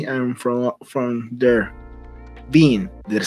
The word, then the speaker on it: Wiene: season 2 to season 3, and from there, Wiene. Did I say it right? Wiene.